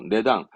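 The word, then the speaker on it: 値段: 의미했던 가격을 의미했던 단어잖아요 발음은 그렇죠 내당 원래 치는 음독은 치거든 근데 내라는 건 뜻이라 단위니까 당이죠 이런 식으로 훈 +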